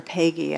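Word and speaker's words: Péguy: It's from The Portal of the Mystery of Hope by Catholic theologian and poet Charles Pagey, or Pagey, I think is the way it's pronounced.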